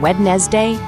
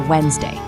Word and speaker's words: Wednesday: This one's a favorite because almost no one says it how it's spelled. If you tried saying Wednesday, you're technically correct, but also very formal. Native speakers simplify it to Wednesday.